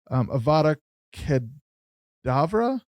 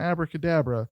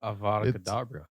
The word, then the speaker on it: Avada Kedavra: 2010, they had the 2 demo songs, Avada Kedavra. It's not Abracadabra. Avada Kedavra. Avada Kedavra.